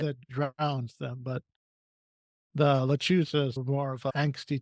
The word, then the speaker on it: lechuza: How do Yeah, you pronounce the that? lechuza. Thank you. Lechuza.